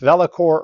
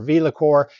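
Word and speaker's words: VeloCore: thing I learned was it can be pronounced velacor or V liqueur kind of a velocity thing but what it really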